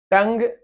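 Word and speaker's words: tongue: टंग, you silent है।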